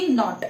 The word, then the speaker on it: Knot: नॉट की spelling देखिए students, वो है KNOT नॉट। ओके, के साइलेंट है उसमें।